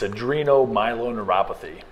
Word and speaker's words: adrenomyeloneuropathy: such a rare thing and how do you pronounce it it's adreno Milo neuropathy it's a degenerative uh exlink disorder and I